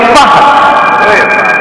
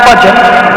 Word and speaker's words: Fahd: One of his sons' name was Fahd. Fahd. Fahd. Not Farah from the word Farid, and not Fajr from the word dawn, and not Fard from the word obligatory, but Fahd.